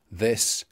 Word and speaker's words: this: So I said that spelling doesn't tell us whether we have a th or a th in any particular place, but look at those words. This, that, then, there, and though. All pronounced with voiced th.